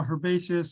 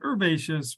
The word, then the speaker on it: herbaceous: which we also call herbaceous or you could be more uh pretentious and say herbaceous without the H um herbaceous herbaceous same